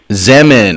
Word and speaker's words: Zeman: Zeman correct I FEMEN rhymes with lemon zemin ok so as she